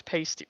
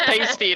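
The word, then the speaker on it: Paiste: how you found out how to pronounce paste pasty oh so it was pasty like like pasties you know well they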